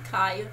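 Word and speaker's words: Kija: That's how you pronounce it again? Kaya.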